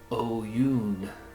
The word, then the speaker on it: Oyuun: the cloud ribboned sky we are called o-y-u-u-n oh yoon oyun oyun oh yoon i think is is the best way to pronounce that oh yoon all right